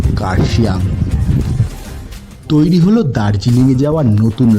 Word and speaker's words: কার্শিয়াং: সাদা অর্কিডের সৌন্দর্যে এই অঞ্চলের লেপচারা জায়গাটার নাম রেখেছিলেন খারসং, যা ব্রিটিশদের বিকৃত উচ্চারণে হয়ে উঠল কার্শিয়াং।